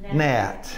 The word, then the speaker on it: gnat: because that is a rhymes with that that is a gnat yeah yeah so yeah